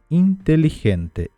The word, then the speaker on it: inteligente: exemplo inteligente la Ninha inteligente inteligente reparem que esse G como se fosse J inteligente ninho travo sempre esse